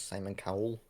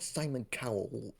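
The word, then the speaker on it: Simon Callow: to play Charles Dickens Simon cowl not not Simon Cowell as in x fact Simon cow pronunciation like he's he was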